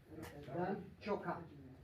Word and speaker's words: Ciocca: Il s'appelle Dan Ciocca. Je prononce exactement à la roumaine, comme en italien.